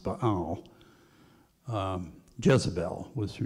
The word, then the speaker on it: Baal: They worshiped the god, we pronounce it Baal, it was probably actually pronounced Baal.